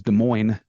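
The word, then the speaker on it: Des Moines: of America yeah well our capital is De Moine there yeah there are a few s that weren't pronounced yep yeah this is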